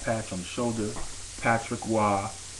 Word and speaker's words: Roy: Patrick Wah, his name is spelled Roy, but it's he pronounces it W, right?